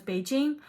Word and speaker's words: Beijing: the china's capital is not pronounced peking but is beijing and its official language